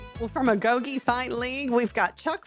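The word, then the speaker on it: agoge: What is what's a goi?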